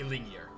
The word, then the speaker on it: Ilingir: I think it's Yer. It's not a hard G. It's a soft G. Ilingir.